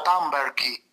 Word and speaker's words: Thunberg: Sono d'accordo, semplicemente volevo puntualizzare che il nome di Thunberg in realtà si pronuncia Thunberghi.